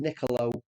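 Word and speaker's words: Nicolò: you pronounce his name the first name Nicolo sorry not nickel and Nicolo Barella now United could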